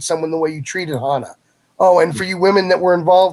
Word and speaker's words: Hana: you know Hannah is am i pronouncing her name right correct I think I I think Hana but I could be wrong it's on ice Hana okay so Hana yeah this all started